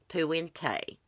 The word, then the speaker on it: Puente: And we're going to be doing a stream on Dorothea Puente.